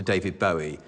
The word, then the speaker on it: Bowie: you that I've now changed dav's name to David Bowie and that's the correct pronunciation he named it self after the Bowie